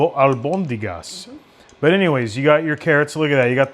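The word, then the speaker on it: albóndigas: And but this is abundas. I know I'm mispronouncing that all the time. Albondigas. Albondigas.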